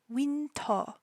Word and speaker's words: Winter: stage name is winter or in Korean wito wito her uh the last character in her name the to is that fun pron um fun sound that's in the back of your throat it's not an ah it's not an O it's an O So wi and her